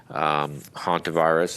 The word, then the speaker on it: Hantavirus: the first slide about Hantavirus, and as you can see, it's not like the haunted spelled. It's spelled Hantavirus, but it normally the